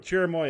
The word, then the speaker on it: cherimoya: the chairman is a root it's a fruit cherimoya yes all right in green hash tag vault